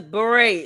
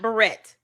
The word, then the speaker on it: beret: Rasberry beret cuz beret is how you pronounce that word not barret.